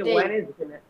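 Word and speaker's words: Wednesday: Data, হ্যাঁ, data silent থাকবে আর কি।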